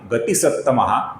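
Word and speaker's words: गतिसत्तमः: और फिर अंतिम नाम है गति सप्तमः, जहां पर ती ह्रस्व है, इसका हमें लघु उच्चारण करना होता है।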